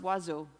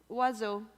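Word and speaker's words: oiseau: in French it's pronounced wazo wazo I love that word actually it contains every single vowel it only has two syllables you could say it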